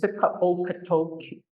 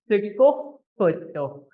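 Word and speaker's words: Sikóóhkotok: And I don't ever want to hear anybody saying Sikaokatoki. That's what they always say on the radio. So I don't want anybody to be from Sikaokatoki. So let's say it right. Sikokotok.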